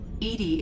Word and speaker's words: EDI: are you named edie edie is the phonetic pronunciation of edi that is an acronym for enhanced defense intelligence how are you getting